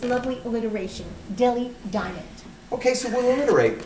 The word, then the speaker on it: Delhi: Polly, the H is silent. It is pronounced Delhi, not Delhi.